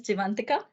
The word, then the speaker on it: Jeevantika: episodes as well um so my name is divantica and I am a clouds solution architect in